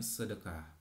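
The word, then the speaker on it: صدقة: Kita lanjutkan saja tentang pengertian sedekah. Nah, sedekah ya berasal dari bahasa Arab, dari kalimat sedekah, sedekatun. Dalam tulisannya sedekatun, dibacanya sedekah. Artinya adalah sedekah atau derma atau pemberian.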